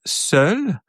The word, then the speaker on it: seul: And then seul, well, it's the same thing. So seul, so you have to pronounce like a se, and then it's like the L will be like the one of the, if you say soul, but soul, you're not doing the soul, you're just doing like the beginning of it. Soul. So seul, you're pronouncing, basically it's the L, you're pronouncing L.